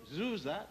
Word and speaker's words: Djoser: In the third dynasty, under the pharaoh Djoser, D-J-O-S-E-R, otherwise called Sir, S-E-R, which the Greeks could not pronounce, and they called Djoser, D-Z-O-R.